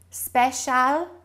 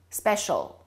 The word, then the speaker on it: special: I'm going to say some words in two different ways. Which one sounds correct to you? Special. Special problem. Problem pilot. Pilot. The second word was the standard correct accent.